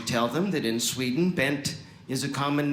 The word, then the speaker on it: Bengt: bam we say ben in sweden you would actually pronounce the g it would be uh but here in